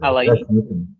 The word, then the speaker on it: Alaine: Tá certa a pronúncia? É assim mesmo, Alaine? Poucos acertam, mas você acertou.